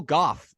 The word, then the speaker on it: Gough: is voice actor Michael Goff welcome did I say your name right by the way I was just going to compliment you on saying it correctly because we didn't discuss it